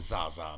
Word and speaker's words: Zsa Zsa: spelled like zsa okay it's actually spelled like zsa i just pronounce it zaza because okay we do